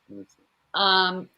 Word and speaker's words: Qing: During the Qing, I think that's how you say it, dynasty. It's not the Ming dynasty, the Qing dynasty. Qing. Qing.